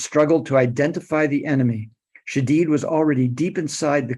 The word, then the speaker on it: Shadid: After time in Cairo and the West Bank, he changed the pronunciation of his name from Shadid to Shadid.